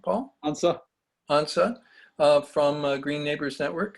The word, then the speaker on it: Antze: how do you say your last name paul ansa hansa from green neighbors network and they're gonna